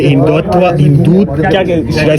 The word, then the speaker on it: हिंदुत्व: यहाँ पर भी द सवार्ड ऑफ अल्लाह और इसी तरह से हिंदूत्व इसे प्रोनाउंस करेंगे हिंदुत्वा, और इसी तरह से मुख्तलिफ किस्म की यहाँ पर जो आर्मी की हिस्ट्री के रिलेटेड बुक्स रखी गई है।